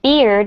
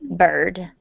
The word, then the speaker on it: bird: Okay, so if you say it like beard, a little beard, it sounds like what men have on their faces. And you want to say bird.